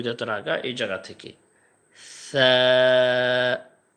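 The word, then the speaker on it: ثَ: আমরা অধিকাংশ মানুষ এই সার উচ্চারণটা আমরা সা, সা এরকম একটু করে ফেলি, সিনের যে উচ্চারণ আছে সিনের মতো করে ফেলি। তো সিনের মতো উচ্চারণ হইলে এটা আর ওইটা তো সেম হয়ে যাবে, সেম করা যাবে না, এটার যে পার্থক্য আছে সেটা উচ্চারণের মধ্যে ঠিক রাখতে হবে।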